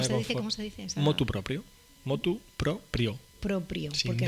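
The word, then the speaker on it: motu proprio: Motu propio.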